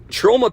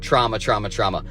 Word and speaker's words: Troma: And let me just, as an aside, say, I pronounced this in my last few videos, trauma. I am 100% from Chicago, and when I read a word, I read a word. This is Troma. I know it's Troma.